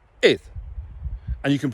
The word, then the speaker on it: air: Now, obviously people tend to mispronounce it as the English word, air. Hamiedash. But it's not air, it's ith.